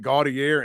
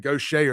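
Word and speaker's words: Gautier: Yeah, but the way they pronounce these names in Mississippi, I'm still just in the last few years realized that Gaudier and Gaucher are the same place.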